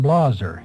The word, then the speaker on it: Blaser: younger than he was the family pronounced their name Blazer in Switzerland and in